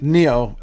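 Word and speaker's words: Nioh: How do you pronounce this name? Neo.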